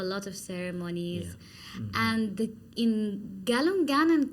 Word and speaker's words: Galungan: And in Galungan and Kuningan, I'm saying it right?